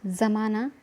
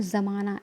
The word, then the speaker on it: ज़माना: आपके पास पूछा जाएगा कई बार इसके नीचे नुक़्ता लगा हुआ है तो इसका उच्चारण कैसे होगा ज़माना गरज के साथ में जब का उच्चारण करना है अगर गुप्ता नहीं होता तो हम क्या करते हैं जमाना ठीक है तो जमाना